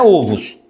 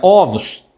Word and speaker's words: ovos: Ah, quando você passa uma palavra do singular para o o plural, normalmente ela muda a sílaba tônica. Então, você fala ovo, mas o plural de ovo não é ovos. É ovos.